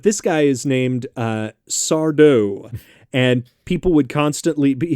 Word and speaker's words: Sardo: and his catchphrase was people would say oh mr sardo he was like no mr accent on the dough stupid so real dumb